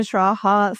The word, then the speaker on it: Schraa: Hi yes I'm Eugenia Shraa. So you can think that Eugenia is just pronounced like Eugene and Shraaha like I said as my slogan last year. It uh rhymes with algebra which remains relevant.